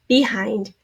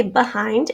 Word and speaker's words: behind: the long e sound some people say behind and that would be a schwa spelled with an e i say behind and then this is the long i with the ind eind don't fall behind we